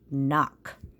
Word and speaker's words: knock: We know that K is silent when it's next to the N. So here we're just going to see the KN and say N, ok, knock.